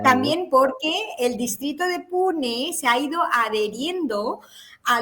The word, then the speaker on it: Pune: Te iba a preguntar, ¿se escribe pune o puna? Sí, pune. P U N E.